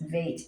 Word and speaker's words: Veit: B as in boy, without the dot, which is called a dagesh. It is Veit as in vine. It's a softer sound.